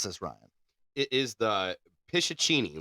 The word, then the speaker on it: Pishachini: It is the Pishachini. Like, just the way, for once, it's just the way it looks.